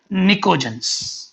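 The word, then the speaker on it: pnictogens: It is also called as nicogens. In this P is silent. निकोजेंस, समझ आ गई जी बात।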